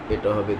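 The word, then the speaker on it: ه: আকারে শিখার চেষ্টা করব এক নাম্বার মাখরাজ হালকের শুরু হইতে অর্থাৎ এইটা এই নিচের জায়গাটাকে এক নাম্বার ধরা হয়েছে হালকের শুরু হইতে উচ্চারিত হয় যথা হামজাহ হামজাহ হামজাহ হা এই নিয়মে আমরা যদি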